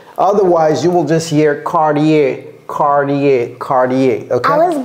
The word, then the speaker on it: Cartier: not sure so Cody can you help us pronounce this cardier okay yeah pretty close cardier cardier Okay cardier okay so cardier cardier so